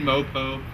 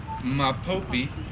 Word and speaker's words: Mopope: of us, including myself, who pronounce all their names wrong, including Stephen Mopo, Jack Hokia, Spencer Asa. We say them all wrong. It's Hoki, Asa, Mapopi, and then Satoki.